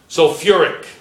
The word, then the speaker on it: sulfuric: Sulfuric. Sulfuric. You have that extra syllable.